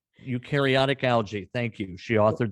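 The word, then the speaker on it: eukaryotic: Louis where she engaged in research on ukareotic. Did I pronounce that right? Ursula almost ukareotic. Ukarotic algae.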